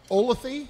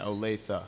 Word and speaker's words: Olathe: does a kid from is it pronounced ola the-- yeah Olathe Olathe yeah I had to